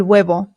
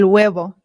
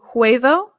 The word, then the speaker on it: huevo: huevo el huevo el huevo this is the word for egg the h in spanish remember is always silent always always always i always hear americans say huevo and that is not correct it is good okay